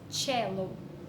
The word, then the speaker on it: cello: Ela pratica aí o violoncelo, que chama aí em inglês cello, pronúncia cello, ok?